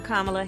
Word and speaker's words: Kamala: her a politician of substance pamela it's not kamala it's not camella but she still had to teach the country how to say her name i'm kamala harris and she was openly attacked by the